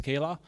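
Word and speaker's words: Scylla: I'm co-founder and CEO sale a DB it's also can be pronounced as Kayla it's the name from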